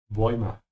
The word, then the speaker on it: Bäume: Be careful with the two letters here. Oi. Ja. Oi. Bäume.